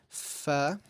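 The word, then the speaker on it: ف: The first letter in the last row is F, which is similar to a F in English.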